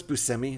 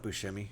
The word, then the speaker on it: Buscemi: Did you know it's Buscemi? It's not Buscemi. It's pronounced Buscemi. That's a C.